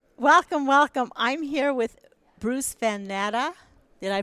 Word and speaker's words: Bruce Van Natta: I'm here with Bruce Van Natta. Did I pronounce that right, You did.